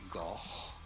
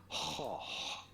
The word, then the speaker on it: Gogh: And then in Dutch they do not say goch, but rather hoch. The G is not pronounced like a G, but like a H. Hoch.